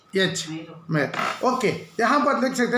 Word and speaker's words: myrrh: उसका स्पेलिंग क्या है? MYRRH, मेर।